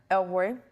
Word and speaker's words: El Roi: El Roy?